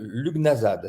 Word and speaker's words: Lughnasadh: à savoir c'est que le début donc loup Luc voilà c'est c'est la même racine que Fiat luxe donc c'est vraiment la